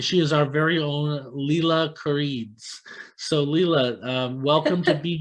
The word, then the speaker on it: Lile Koridze: Lile Koridze.